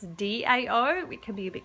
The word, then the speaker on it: Dao: So DAO is the pinyin, but it's the same sound. So it's Dao. Dao, that's how you say it in Chinese.